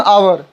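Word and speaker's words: hour: Example देख लिए, अन आवर, आवर आ से प्रोनाउंसिएशन हो रहा है हिंदी में, इसलिए आवर के पहले अन का प्रयोग करेंगे।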